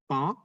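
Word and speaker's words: paon: Hati-hati, banyak orang salah mengira bahwa kata ini, roti, pain, itu bacanya pong. Beda. Kalau pong, nanti jadi merak ya. P-A-O-N, itu bacanya pong. Sedangkan P-A-I-N bacanya pain. Hati-hati.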